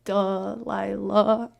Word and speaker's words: Delilah: It's like DUHLILUHHH, like Delilah.